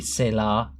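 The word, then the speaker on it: Selah: they spell it but it's basically say la like from now excite filter it's just basically said ah like you see in the Psalms when David's writing yeah but well he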